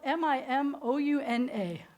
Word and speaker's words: Mimouna: called does anybody know I'm talking about so it's spelled mi mo UN a mimouna and the Moroccan Jews are known for